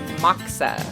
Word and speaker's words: Moksa: Am I saying it right? Moksa? It's Moksa.